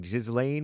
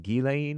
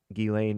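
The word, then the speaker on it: Ghislaine: Gileain A Max Maxwell looks like Jizlane Maxwell, but I think it's pronounced Gileain Maxwell.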